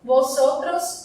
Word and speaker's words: vosotros: O V em espanhol tem som de B, então não é um som tão forte, mas eu pronuncio levemente, por isso que o vosotros e vosotras fica pronunciado dessa forma, tá?